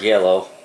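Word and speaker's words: giallo: I believe it's called yellow is how they pronounce it g i a l l o it's Italian for the word yellow movies were very popular during the 70s uh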